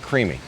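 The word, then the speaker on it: Creaamii: creamy it's c-r-e-a-a-m-i-i though but they pronounce it creamy and it's a nice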